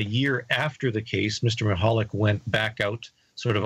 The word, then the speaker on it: Michalak: And we're talking about Falcon Lake in connection with this book, and I can barely pronounce the co-author's name, Stan Michalak. Michalak, yes.